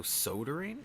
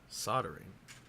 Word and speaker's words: soldering: did we ever establish i thought the l was silent so sodering how are you hope i grabbed your phone i don't know how you're explaining it to be pronounced then don't let her take the kentucky out of you marco soldering hmm soldering all right fair enough apparently in british english you pronounce it i guess uh i'm british